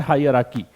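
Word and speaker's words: hierarchy: ये जो हायरार्की होता है, इसका प्रोनाउंसिएशन होता है हायरार्की।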